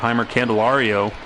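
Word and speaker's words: Jeimer Candelario: I'm going to have Heimer Candelario.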